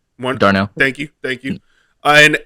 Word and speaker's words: Darnell: Jr on the other you still got um Daryl Mooney if I pronounce his name right Darnell thank you thank you and and and the